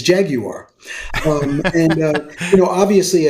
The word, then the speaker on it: Jaguar: Um, you know, Jaguar is the British the way the British pronounce what the car that we call Jaguar. I didn't know that. Yes. Okay. Yes. The British the the true British pronunciation for that is Jaguar.